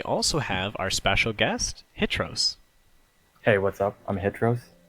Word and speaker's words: Hitros: yeah, and as you guys know, it is actually Hitros. I know there's a little story behind that, maybe, possibly. But I know in the past there may have been a pronunciation as Hitros, but I think we're here to put that to rest.